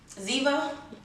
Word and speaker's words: Ziva: say it is zan ziva yeah it's like diva but instead of these with zzz and zebra so this is the